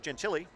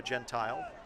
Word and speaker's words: Gentile: Number 4 for the Billerica Indians is Steve Gentile, or Gentile. You hear both pronunciations around.